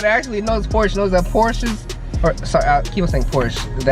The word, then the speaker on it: Porsche: music anyone that actually knows Porsche knows that Porsches sorry Kim same course the actual pronunciation is Porsche shut eye actually it's actually pronounced Porsche it's